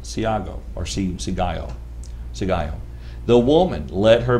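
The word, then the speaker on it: σιγάω: The Greek word silence is pronounced sigaio, for what that's worth, to keep silence, hold one's peace, to be kept in silence, or to conceal.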